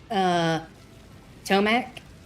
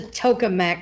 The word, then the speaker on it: tokamak: Anyway, he kept pronouncing it Tomac, and I was like, you fucker, it's a tokamak reactor.